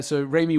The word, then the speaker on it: Raimi: Octopus in a smaller role, but Sam Raimi, I combined Sam and Rami, the way I was pronouncing it incorrectly, into one word and got Sammy. But so Raimi wanted to keep the